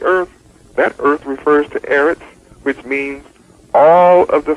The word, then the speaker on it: Eretz: When you study earth according to my study tools, you'll understand that earth in Hebrew is Eretz, pronounced Eretz, E-R-E-T-S. And to your shock, you will